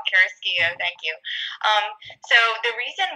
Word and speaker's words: Carrasquillo: Thank you for getting my name, pronouncing my name correctly. A lot of people get that wrong. Carrasquillo, thank you.